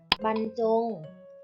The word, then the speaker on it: บรรจง: คำ กัน นะ คะ บรรจง อ่าน ว่า บรรจง บรรดา อ่าน ว่า บรรดา